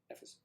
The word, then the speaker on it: Ephesus: Ephesus. I need to see these things phonetically.